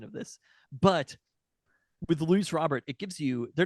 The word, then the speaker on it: Luis Robert: to be people are annoyed with my correct pronunciation of this but with lu Robert it gives you they're not cheap years necessarily